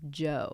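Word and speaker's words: Djo: do you pronounce that it's definitely Joe a silent D yeah it's DJ o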